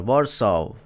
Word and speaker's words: Warsaw: Warso. Warso. The pronunciation so important because please be careful, man.